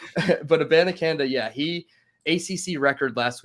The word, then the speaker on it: Abanikanda: Israel Abanikanda from Pittsburgh. He's 5'11", 215. I probably butchered his last name, but that's okay. This No, last but week, it's a Banacanda. That's how you say it.